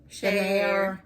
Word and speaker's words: Schaer: Oh, the Share pasta. It's spelled SCHAER.